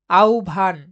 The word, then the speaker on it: আহ্বান: আহবান এর প্রকৃত উচ্চারণ হল অপশন গ আউভান পরের প্রশ্ন রয়েছে কোন